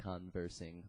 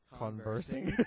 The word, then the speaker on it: conversing: naturally Suave and continuously conversing all the time conversing I was going to say conversing and that's not a word put put the wrong emphasis on put the uh emphasis on the wrong salel did you yeah so